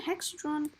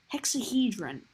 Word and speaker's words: hexahedron: Is it even hexadron? Hexahedron. I need to learn how to pronounce that properly.